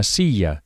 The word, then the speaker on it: silla: A chair is una silla. Remember that the double L is pronounced very similarly to an English Y.